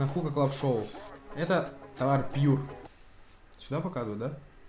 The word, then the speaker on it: Pure: Мне кажется, говорить правильно. Pure.